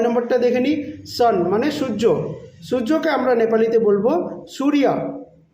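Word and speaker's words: सूर्य: এবার পরেরটা নয় নাম্বারটা দেখে নিই সান মানে সূর্য সূর্যকে আমরা নেপালিতে বলব সূরিয়া ঠিক আছে সুরিয়া সূর্যকে আমরা নেপালিতে বলব সুরিয়া প্রোনাউন্সিয়েশনটা মানে আমি কিভাবে উচ্চারণ করছি সেটা একটু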